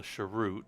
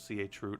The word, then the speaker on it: chroot: I use Ansible to configure images and what we call a sharut or some people chroot. I don't care how you say it. I say it both ways.